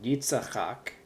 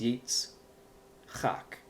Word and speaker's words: Yitzchak: So you have yitz chak. This isn't yitzachak, it's yitz chak.